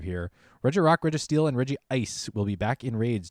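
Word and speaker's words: Regice: want to find uh the anime pronounces it as reggie ice that's good to know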